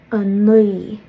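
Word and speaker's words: a naoi: So a nui, because you can't make the W sound because you can't move your lips, but you're trying to. A nui. I think in my previous video on this, I compared it to like you were gonna say a knee, but you like slipped on an oil slick or something.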